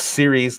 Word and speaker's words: Ceres: So It's Ceres, like TV series, and it's a planet.